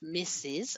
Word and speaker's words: Mrs.: These abbreviations are pronounced as Mr. and Mrs.